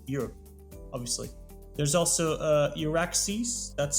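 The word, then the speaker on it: EURAXESS: positions all over Europe obviously there's also uh Iraq sees that's spelled e-u-r-a-x-e-s-s which is from the European commission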